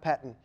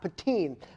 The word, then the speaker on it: Pettine: In the meantime, let's talk about Mike Pettine. You like that transition there? Again, these cheese puns will help you learn how to say the names. The new defensive coordinator, Mike Pettine, not Pettine. Mike Pettine, what do we know about him?